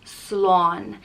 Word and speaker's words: slán: some telefish and chilled out next up is slan and it means by and it's pronounced slon the literal translation is safety but and people